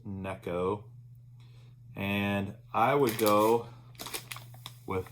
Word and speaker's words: Neko: Some people call it Nico, but it's pronounced Neko.